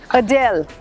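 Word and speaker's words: Adele: वही ना अडेल। अटेल नाम नहीं है। ए डी ई एल ई जो एम्फेसिस है ना वो दूसरी तरफ है। अ पे नहीं है। अ डेल अ डेल।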